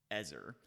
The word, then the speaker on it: ezer: I will make him an ezer." And I use the word ezer, not helper, there intentionally, because that's actually the Hebrew word there. The word is pronounced ezer.